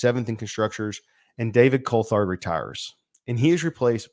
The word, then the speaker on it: Coulthard: Coulthard.